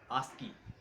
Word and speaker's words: ASCII: So ASCII stands for American Standard Code for Information Interchange, pronounced as ASCII.